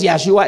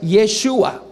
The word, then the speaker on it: Yeshua: Pero ahí tenemos los judíos mismos que están corrigiéndolos diciendo no es Yahshua, es Yeshua.